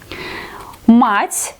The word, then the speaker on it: мать: If you don't understand that here we have to pronounce it like hard consonant, мать. Here we have to pronounce it like soft consonant, мять.